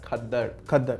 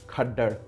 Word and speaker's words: खद्दर: क्योंकि जो कपड़ा है जहाँ से लफ्ज निकला है दैट्स खद्दर, ओके, नॉट खड्डर।